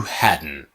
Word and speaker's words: hadn't: which happened first okay now with the pronunciation it's had not to hadn't and I guess you know the idea that hadn't we hadn't right silent T strongan Hatton got the idea so let's say some simple examples with the past perfect training pronunciation of hadn't to Haddon ready let's go hmm